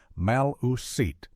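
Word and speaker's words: Maliseet: It is thought that the tribal name Maliset pronounced Maluset comes from the Mcmack word for broken talkers.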